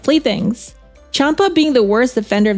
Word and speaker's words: Champa: a twin brother Champa is it Champa or Kaa wait no the Japanese do have cha so it is Champa don't they pronounce champagne